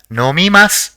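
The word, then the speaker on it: のみます: see the next word the first character in the word is no the second is me the third is ma and the fourth is SU so it will be pronounced as nomimas which means to drink let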